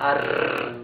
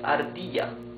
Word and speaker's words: ardilla: Ardilla or ardilla. Ardilla. Ardilla means squirrel. You can see r. It's a smoother sound. Ardilla. It's not ar. It's ardilla.